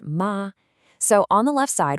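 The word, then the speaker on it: 妈: Let's break down the character from mother, which is ma, pronounced ma.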